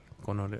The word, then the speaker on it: Coronel: Coronel.